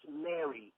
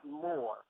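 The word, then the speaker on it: mr: Now, the Egyptian term for pyramid is more. M-R. Am I wrong? I don't know. Yes, you're wrong. Yes, you're wrong. M-R is pronounced Mary, not more.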